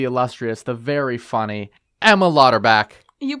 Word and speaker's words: Lauterbach: the wonderful the illustrious the very funny Emma lauterback you pronounced it right yes I spelled it on